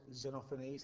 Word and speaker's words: Xenophanes: And lastly, we're going to look at this quote from a poet, Xenophanes, that's how it's pronounced.